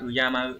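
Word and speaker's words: 敬う: Chữ kính sẽ không có dạng tính từ mà nó chỉ có dạng động từ là uyamau thôi. Âm khương là uyamau có nghĩa là kính trọng.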